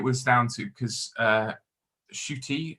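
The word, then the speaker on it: Ncuti: down to because uh shooty uh which is uh how uh which is how lisa uh mazimba prin pronounced it thank you very much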